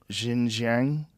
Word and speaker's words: Xinjiang: Xinjiang region?